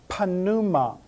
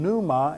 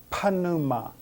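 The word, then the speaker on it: πνεῦμα: spirit panuma and remember there are no silent letters in greek that all of the letters are pronounced so rather than saying numa as we would say in english we say panuma panuma now where do we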